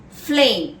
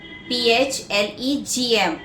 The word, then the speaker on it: phlegm: Next word, flame, P-H-L-E-G-M. Yeah, it is flame. Flame, P-H-L-E-G-M, where the G is silent.